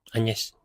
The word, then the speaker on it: Agnes: namanya Agnes diperankan oleh Anyes. Anyes lah kalau bahasa pelafalan Inggrisnya tuh sip diperankan oleh Paul Mascal.